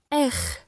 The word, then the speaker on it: R: Nous continuons avec la 18e lettre, R. R. Le son est très court et l'intonation est plutôt montante.